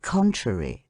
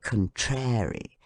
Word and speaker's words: contrary: syllable the and in contrary on the first syllable con how shocking it is to hear people say contrary theater the friends of